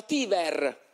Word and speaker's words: Tiber: Che il fiume di Roma si scrive Tiber, ma si diceva Tiver, infatti diventa Tiver, Tivere, d'accordo?